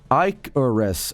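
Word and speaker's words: Icarus: Icorus is pronounced iicores with the first syllable rhyming with pick.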